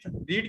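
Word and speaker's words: read: Ayushi, रीड की third form भी same ही होती है स्पेलिंग में, पर रीड रेड बोला जाता है ना, ये होता है।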